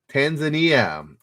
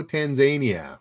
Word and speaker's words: Tanzania: Yes, Tanzania. Also Tanzania. Both of those are correct pronunciations. I didn't believe it when I first heard it, but yes, Tanzania is another pronunciation. That's perfectly correct.